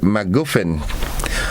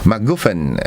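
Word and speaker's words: MacGuffin: is a noun and it is the word maguin maguen all right and it's spelled m a c g u f f i n M goofin and it is an object event or character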